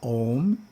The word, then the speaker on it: Om: When we chant the mantra Om and do it correctly, we pronounce the A so that it vibrates the physical body. The U has to vibrate through the throat area and the the head.